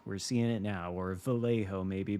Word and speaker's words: Vallejo: seeing it now or Vallejo maybe but it's Spanish in the the two L's are pronounced like a y in Spanish so it's vjo what does vjo mean